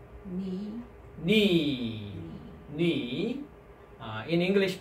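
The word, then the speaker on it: ν: Knee. Knee. Knee. In English pronunciation is N, N sound.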